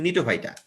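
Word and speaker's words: Gnetophyta: এই যে জিএনই না, জি উচ্চারণ হয় না, এটা অ্যাকচুয়ালি নিটোফাইটা। সাইপ্রাস মানে সাইকাডোফাইটা, আর গেল মানে গিঙ্গোফাইটা।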